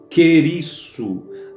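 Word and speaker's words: κηρύσσω: A palavra pregar, o verbo pregar, ele vem de uma raiz, de uma pronúncia grega que é querisso.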